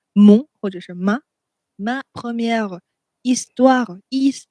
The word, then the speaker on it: histoire: 后面跟阴性的名词的时候就是 ma，不然的话就是 mon 啊 mon 或者是 ma première histoire h 不发音 histoire d'amour amour 爱情啊爱，那 histoire 故事，我的第一个爱情故事。